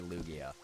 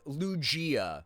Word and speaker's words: Lugia: Oh yeah, I forgot who it was who challenged me on the the pronunciation of Lugia, but it is officially Lugia, by the way.